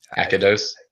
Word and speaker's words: Akados: That's how you say it, right? Akados? I say Akados.